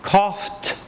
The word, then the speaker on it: coughed: the past tense cough coughed not cough cough D cough D spelled like it should be pronounced differently though right uh talk talked